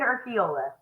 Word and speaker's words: Urquiola: so you can tell everybody name it's orola okay you know what that was kind of